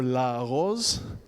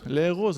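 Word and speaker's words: לארוז: And if you look at the nikud, the dots and lines that determine how Hebrew words are supposed to be pronounced, which is technically really prescriptive, you're supposed to say le'eroz, le'eroz, le'ehov, le'echol. But everybody says la'aroz, la'aroz tamizvada.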